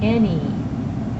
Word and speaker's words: any: Alright, this word has 3 letters, and the last sound, Y, sounds like a long E. What about number 1? Any.